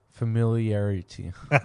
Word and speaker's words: familiarity: it right familiarity familiarity you swallowed the first R that's what it is we were trying to do we were going like familiar and that's why we were getting twisted familiarity familiarity familiarity